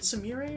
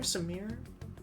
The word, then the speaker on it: Sumire: Was it Sumire or Samir? Definitely Sumire. Okay, I'll say Sumire. I don't know my sister very well, apparently. But yes. Let's keep pushing. I'm gonna purposely pronounce it wrong.